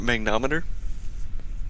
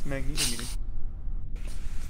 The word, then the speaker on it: magnetometer: I believe it's pronounced magnometer. No, it's magnetometer.